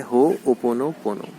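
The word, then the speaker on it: Hoʻoponopono: सो इसका प्रोनाउंसिएशन होता है होपोनोपोनो।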